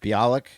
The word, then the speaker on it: Bialik: Bialik.